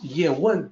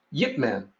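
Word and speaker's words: Ip Man: spoke was Cantonese so pronunciation of his name in Mandarin is year one but in men in Cantonese when phonetically translated to English is Yip men and get man is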